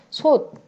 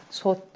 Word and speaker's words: 솥: 솥. 솥은 티읕이야. 가느다란 물방울에 없으니까 마찬가지로 그냥 디귿으로 쓴다. 솥. 디귿으로 발음한다. 그치?